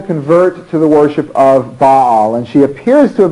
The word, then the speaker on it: Baal: wants them to worship you will sometimes hear this pronounced just as a single syllable bowel uh it's just a matter of what you've gotten used to and in my graduate school we always pronounced it but all so you'll just get